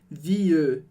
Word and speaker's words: vie: Então eu digo je change de vie, mas aí de novo em vie, esse E não é pronunciado. Eu não falo vieux. Essa era uma pronúncia bem antiga do francês. Aqui a gente diz vie.